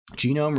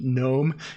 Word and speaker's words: gnome: Genome, really? Don't you know that the G in gnome is pronounced like the G in gigantic? Genome.